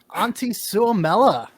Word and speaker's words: Antti Suomela: Cece, would you like to introduce this one because I have no idea how to say this name. Antti Suomela. Hey, there you go.